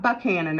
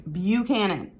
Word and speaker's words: Buchanan: that were born under taurus james buchanan not buckhannon okay it's not pronounced buckhannon okay i don't care if you're in buckhannon county virginia it's buchanan so james buchanan ulysses s grant he was